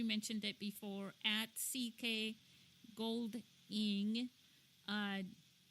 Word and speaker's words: Goldiing: I know we mentioned it before at CK gold in uh spell that out for us CK as in Calvin